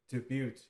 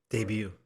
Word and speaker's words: debut: success with their debate debut debut debut it's French so the t is silent uh you know the